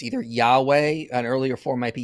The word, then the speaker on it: Yahweh: But I think the most likely pronunciation is going to be Yahweh.